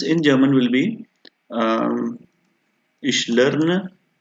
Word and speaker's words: lerne: So this sentence in German will be Ich lerne. Make sure, friends, LERNE, not LEA. It's not the German. It's not the English word.